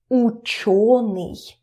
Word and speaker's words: ученый: You see, you understand that it is stressed. Ученый.